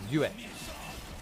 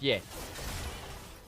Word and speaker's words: Yue: I was told it's 2 syllables, Yue. Not just Ye.